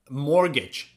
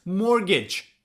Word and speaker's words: mortgage: Yes, there is a silent T. Don't pronounce it. It's mortgage.